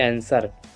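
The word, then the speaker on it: answer: यदि यस के बाद W हो तो W शांत रहता है, ठीक है, W का उच्चारण नहीं की जाती। ये आंसर, एंसर, और यहाँ सर्ड, इसमें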